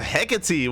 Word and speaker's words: Hecate: Yeah, Hecate. Hecate. Yeah. On whose authority? Mine. Okay. I mean, you know, I googled the pronunciation because apparently it's it's Hecate and Alcyone, the two maps where they're named after Greek goddesses.